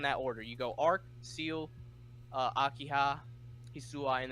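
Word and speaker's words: Ciel: Kui Kui arc and how do you pronounce the name CIE L seal seal someone he'll see our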